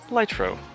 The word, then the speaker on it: Ligtro: so here we are with the light picks light row so there are two elements of the light